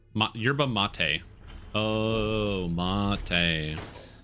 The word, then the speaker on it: mate: Oh, mate. Look, man, that ain't spelled like mate, but now we know.